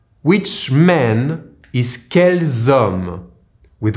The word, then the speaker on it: quels hommes: Which man is quels hommes? With 1 L and 1 S. Here I am pronouncing the ending S only because homme starts with a silent H, so I am making the liaison.